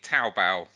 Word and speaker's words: Taobao: Chris, you probably, how would you pronounce that one, Chris? It's literally Taobao.